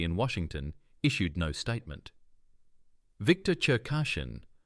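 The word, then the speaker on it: Cherkashin: Victor Chashin, pronounced Victor Cher Kashin.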